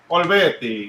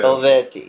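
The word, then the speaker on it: Olivetti: Olvetti, yeah. Olvetti, yeah.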